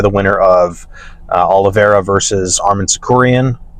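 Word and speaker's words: Arman Tsarukyan: winner of Oliva versus Armen sakuran that's how you say his name um they just wanted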